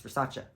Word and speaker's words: Versace: you rather say you're wearing Ariana Grande or Versace Versace I'm sorry I cannot say Versace people call it Versace and that's not what it is it's Versace I will always watch that video of Donatella